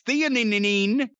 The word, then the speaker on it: theanine: I don't know how to pronounce that. And nano CBD. It's theanine, but it helps you sleep.